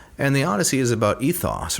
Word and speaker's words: ethos: And the Odyssey is about ethos, or athos, to use the Greek pronunciation.